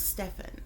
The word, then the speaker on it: Stephen: real quick overview uh I believe it's Stefan okay because his first